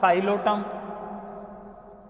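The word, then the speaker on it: Psilotum: साइलोफाइटा, साइलोटम, इसमें पी आ जाता है, साइलेंट में आता है ना इसलिए, तो साइलोटम। पी यहां पर साइलेंट है, ध्यान रखना प्रीवियस।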